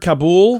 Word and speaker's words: Kabul: The city of, is it Kabul? Am I saying it right? I've heard Kabul. Kabul. It depends. I hear I've heard it both different ways. from different places.